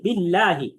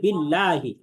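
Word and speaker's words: بالله: আচ্ছা, এরপরে খেয়াল করেন, পরের যে শব্দটা আছে বিল্লাহি, এখানে আমাদের আল্লাহ শব্দের লামটাকে পাতলা করে পড়তে হবে, বিল্লাহি।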